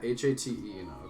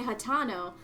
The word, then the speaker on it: Hateno: Yeah, H-A-T-E-N-O. Okay, you're right. Yeah. Hatano. See, that's how I say it. I say Hatano, but it's Hateno. It's Hateno. Hat-Eno.